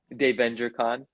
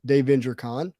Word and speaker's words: Dave VentureCon: Dave VentureCon. No S in the name of the con. Got it. Dave VentureCon.